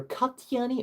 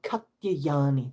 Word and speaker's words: Katyayani: It's pronounced either Katyayani or Katyayani, depends on the spelling.